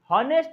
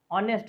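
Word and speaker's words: honest: अब हॉनेस्ट मैन, हॉनेस्ट नहीं होगा, ऑनेस्ट होता है, क्या होता है, ऑनेस्ट, एच को साइलेंट करना होगा, तो जब एच साइलेंट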